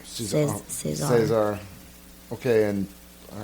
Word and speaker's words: César: And we're not French, so we're not saying it correctly, because I think it's César. César.